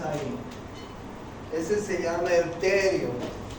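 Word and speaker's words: pterio: ese se llama el terio se llama el terium se escribe así peteri y este otro punto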